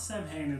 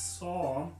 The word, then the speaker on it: Samhain: It's not Samhain, it's Saw.